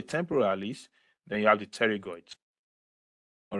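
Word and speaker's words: pterygoid: teroid the teroid is the p is usually silent so it's pronounced teroid like teroid all right so the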